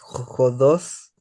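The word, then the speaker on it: ὁδός: Acuérdate de poner la J antes. J. J. Dios sin la i. Jodos.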